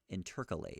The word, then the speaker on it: intercalate: Interject, interpose, intercalate. What does intercalate mean? How is it pronounced? Intercalate. I nailed it.